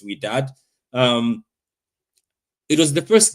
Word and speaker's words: Wydad: That's how they say it. I think so. I kept saying Wydad, but it's Wydad.